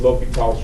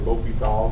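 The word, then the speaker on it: L'Hôpital: It's French. Anyone speak French? I do not. But I believe the correct pronunciation is something like L'Hopital, so that's what I say. The French probably wins.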